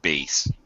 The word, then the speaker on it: bass: bass right and again bass when it comes to music is pronounced bass in English um but yeah I